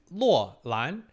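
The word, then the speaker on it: Loulan: So in Chinese pronunciation is Luolan. I can't really tell you what it means because there's so many possible interpretations and meaning.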